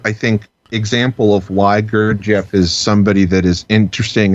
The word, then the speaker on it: Gurdjieff: Gurdjieff? Gurdjieff.